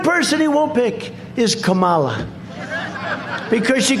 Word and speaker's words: Kamala: do you pronounce it it's with a comma like a comma right like a comma remember